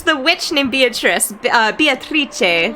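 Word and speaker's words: Beatrice: witch named beatric uh beatric so it's like the Italian pronunciation uh and that's kinzo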